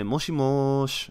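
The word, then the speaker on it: もしもし: say desu right and similarly in this case you really emphasize you say moshimosh right um so i mean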